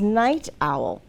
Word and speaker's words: Knight Owl: of this story is Night Owl now is this the type of night like night time no we know that because of the way that it's spelled remember the K is silent so this is a